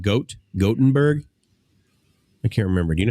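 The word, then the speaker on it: Gothenburg: that Chris gottenberg yeah it's not goth it's gotenburg yeah got got or goat is it a long o oh no no got short Gutenberg Gutenberg Gutenberg Beauty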